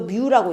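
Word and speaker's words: μ: 쌍극자 모멘트 뮤는 이거 뮤라고 읽어요.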